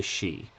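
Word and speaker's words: Sidhe: example is all about the rise of the xi which is this word right here it doesn't look like it's pronounced G but it's totally pronounced XI and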